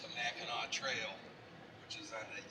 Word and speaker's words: Mackinac: it's a Mackinac Trail which is on the east side of